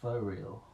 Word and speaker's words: Faux Real: so the next one is called rentree by for real spelled f a u x for real yeah as someone who's